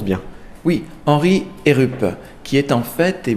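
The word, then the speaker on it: Heerup: on a devant nous une autre oeuvre signée henry et groupe est ce que je prononce bien oui henry et rupp qui est en fait est bien un des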